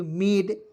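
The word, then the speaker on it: made: का ड लिखते हैं अंतिम में ई है उसका उच्चारण ए के रूप में करेंगे मेड ठीक है उसके बाद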